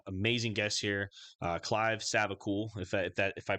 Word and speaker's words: Savacool: podcast I have amazing guests here uh Clive savacool if that if I pronounce that correctly is that how you pronounce